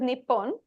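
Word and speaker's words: 日本: So this is Nihon, this is Nippon. Both are fine. When they use kanji, you can pronounce it either way.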